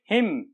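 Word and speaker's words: hymn: पहला पढ़ेंगे हिम, autumn, column, dam. इनमें क्या है, एन से पहले एम आया है, एन से पहले एम, तो वो साइलेंट हो गया।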